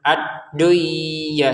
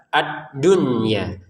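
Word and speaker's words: الدُّنْيَا: Kata ad-dunya perhatikan nun sukun bertemu ya seharusnya dibaca dengan dengungan ya, dimasukkan nunnya ke ya sehingga terbacanya ad-duya, seharusnya begitu. Tapi ternyata ini berada di dalam satu kata, akhirnya ketentuan dimasukkan nun ke ya sudah tidak ada lagi. Berganti dengan cara baca yang jelas ad-dunya.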